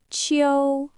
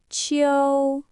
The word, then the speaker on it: 秋: It is pronounced in the first tone. Repeat after me. Qiu, Qiu, Qiu.